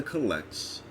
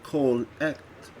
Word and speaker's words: collect: the office of the collects note 55 a collect the accent is on the second syllable a call act is a short prayer